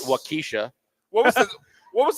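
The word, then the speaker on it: Waukesha: There's um Wakaaw, which everyone cannot pronounce. Does it speak to your Wakaaw? They call it Wakisha.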